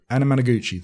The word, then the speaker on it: Anamanaguchi: I always get the band's name wrong. Is it Anamanaguchi? Anamanaguchi, thank you.